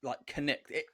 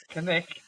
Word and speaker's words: Cnicht: Mate, I hope I gave it like Cnicht. That is how you pronounce it, isn't it? No, go on, Paul. Have a go. Cnicht. You got a at the end, Cnicht.